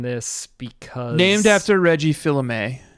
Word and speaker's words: Fils-Aimé: Fils-Aimé is how you say it? Yeah. God, really struggling with pronunciations this season.